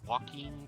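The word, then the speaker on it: Joaquin: a bit more sense names pronounced walking Castro h j o a q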